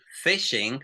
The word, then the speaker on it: phishing: When we have a PH sound, it sounds different, okay? For example, listen to this. Phishing, which is a cybersecurity, we say phishing, phishing. So we explode, we say phishing.